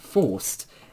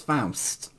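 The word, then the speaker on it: Faust: Forced. F A U S T. Okay. It's not forced. It's Foust.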